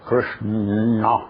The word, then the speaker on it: Krishna: ele deve ser, mas este N é pronunciado com a língua lá para trás, é o Krishna.